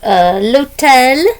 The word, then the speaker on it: l'hôtel: So, l'hôtel, same word in English, but pronounced differently because it's a silent H.